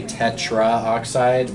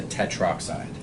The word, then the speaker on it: tetroxide: Right, so with oxygen, it's kind of weird to say tetraoxide. We just shorten it to tetroxide.